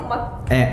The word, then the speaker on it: MOOC: Oh, gue kira MOG. Itu MOOC. MOG. MOOC itu bacanya MOOC ya? Ya, bisa.